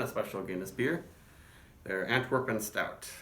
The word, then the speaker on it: Antwerpen: They're Antwerpen Stout. At least that's what the Irish brewers called it, though in Antwerp they would call it Antwerpen. More of a Dutchish, Germany-ish sort of pronunciation.